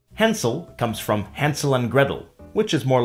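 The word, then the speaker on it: Gretel: Hansel comes from Hansel and Gretle which is more like Hansel and Gretle in cocknney pronunciation and Gretle rhymes with Kettle.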